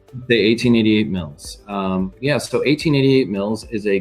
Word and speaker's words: 1888 Mills: So tell us about 1888 Mills. And is that how you say it? You don't say 1,888. You say 1888 Mills? The 1888 Mills.